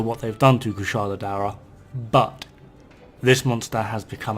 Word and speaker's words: Daora: Kushala Daora, or Daura as it's pronounced in this game.